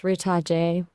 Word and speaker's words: Ritaje: All remember, it's Ritaje. Have a good one. Okay, without the e. No, the e is silent.